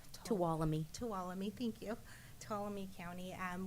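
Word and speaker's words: Tuolumne: item is the um um and I always mispronounce the county it's toam talami thank you toam County um with a few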